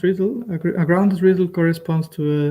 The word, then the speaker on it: RDDL: grounded uh a grounded ridle it's it's it's pronounced riddle a grounded riddle corresponds to a dynamic uh